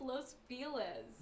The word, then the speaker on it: Los Feliz: You're saying it wrong. It's Los Felz. You too. It's Spanish.